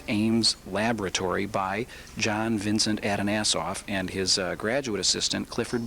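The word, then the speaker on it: Atanasoff: And Kai, we're standing in front of the Adanasoff Berry computer, or the ABC computer. Now, can you tell us what is that, and did I say it right? Yes, you did.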